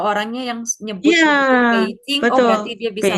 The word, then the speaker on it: Beijing: Ini contoh-contoh Beijing kemarin bacanya gimana?